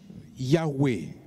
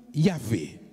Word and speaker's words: Yahweh: Une prononciation du tétragramme reconstituée à partir des transcriptions grecques de Genesius a conduit à lire Yahweh ou Yahvé.